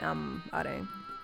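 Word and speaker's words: Amh Araeng: And that's just how you say it, Amarang. It's not like... It's not Gaelic like I thought it was.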